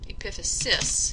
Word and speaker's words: epiphysis: we have the epiphyses epiphysis is how you would pronounce that pronounce that and on